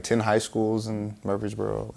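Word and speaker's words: Murphysboro: try uh first off I might pronounce this wrong so tell me you're from Murphy's Boro is that right perfect I nailed it tell me about Murphy's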